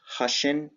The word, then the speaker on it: Hussian: the purpose of this presentation is to introduce Russian College of Philadelphia Pennsylvania it's pronounced Russian like Russian but with an H so one